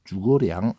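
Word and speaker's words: 诸葛亮: 중국말로는 주거량 이렇게 발음하더라고요.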